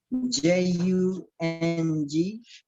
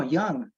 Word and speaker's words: Jung: do you spell that j-u-n-g if it would be pronounced jung but it's junk oh young or maybe you pronounce it young yeah i think that's closer as i recall from my german carol young let's see